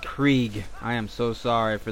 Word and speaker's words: Krieg: Craig, or Krieg. I believe it's pronounced Krieg.